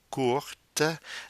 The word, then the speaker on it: courte: If the adjective court, short, is in the feminine form for agreement, like une jupe courte, then the E forces the pronunciation of the T with the agreement.